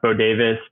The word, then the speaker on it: Bodewes: name is B- o d Wes which is pronounced bod Davis but doesn't make any sense um so yeah bavis on Instagram and that's pretty much the only